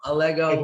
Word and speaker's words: Allego: wrong i don't know think of legos think it rhymes with legos a lego legos like the toys if someone's looking for